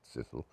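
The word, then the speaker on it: Cecil: The Sisilles is their surname spelled Ceil, but naturally being British pronounced Sicille.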